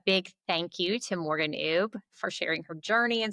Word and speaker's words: Oubre: say are are Morgan ub. And then obviously it as you'll see in the description B. Yes. Does not sound the way it's like it's spelled but yeah.